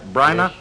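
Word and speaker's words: Bryna: and as head of uh your own company briana productions did i pronounce that right briana yes you did and i'm happy you pronounced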